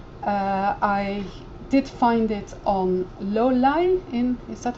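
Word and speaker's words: Lolei: I did find it on Lolai, is that how you pronounce it? Lolai, yeah.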